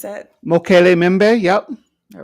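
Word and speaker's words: Mokele-mbembe: Is that how you pronounce that? Mokele Mimbe.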